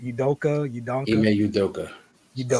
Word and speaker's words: Udoka: Udoka. Ime Udoka. Udoka. Exactly how it's spelled.